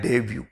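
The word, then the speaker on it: debut: जैसे सेंटेंस है after a डेब्यू film, देखिए डेब्यू, पहली बात तो इसमें प्रोनंसिएशन ध्यान दीजिए, अगर स्पेलिंग के आधार पर करेंगे तो इसको डेबट बोल देंगे या डेबुट बोल देंगे, बट यह है डेव्यू, डेव्यू।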